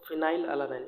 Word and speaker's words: phenylalanine: You can see that this F is the symbol for phenylalanine, and when you pronounce phenylalanine, it seems like it starts with F, so its symbol is F.